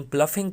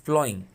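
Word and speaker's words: ploughing: मैंने लोगों को इसकी गलत प्रोनाउंसिएशन प्लफिंग पढ़ते हुए सुना है, ये प्लफिंग नहीं है, इट इज़ प्लॉइंग।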